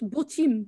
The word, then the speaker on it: Botim: Je vais vous dire B-O-T-I-M. Tu peux nous mettre dans le chat. Hein. Ah oui, avec grand plaisir, bien entendu. Botim, je pense Botim ou Botim, oui, je pense qu'on prononce ça comme ça.